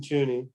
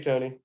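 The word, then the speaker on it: Toney: name surprise i think i think tony is right and he wasn't joony it was tony so tony county county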